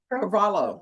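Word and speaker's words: Carvalho: Carvalo. Yes, ma'am. Oh, okay. So, the H is silent.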